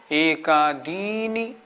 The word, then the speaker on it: एकादीनि: तो कैसे बोलेंगे? एकादीनि, दी पे जोर लगाना है।